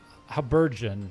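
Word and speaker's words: Habergeon: Habon rhymes with dungeon.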